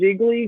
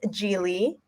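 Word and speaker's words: Gigli: I literally went with Jiggly because that's the only Bennifer film I know. Yes. So it was Geely. I didn't even say it right.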